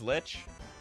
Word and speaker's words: Lich: brand I love it rhymes with itch so it's it is Lich Lich it is get